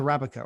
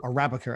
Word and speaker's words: Arabica: on uh on uh placenta rabbika or or arabica as it's actually pronounced um but written with